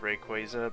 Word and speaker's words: Rayquaza: For one, Rayquaza was never red, unless he was. So, also apparently it's pronounced Rayquaza, but you'll have to drown me before I'll pronounce it that way.